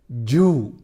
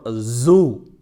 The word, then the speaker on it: zoo: Another common mispronunciation is Jew for zoo. Zoo is often mispronounced as Jew.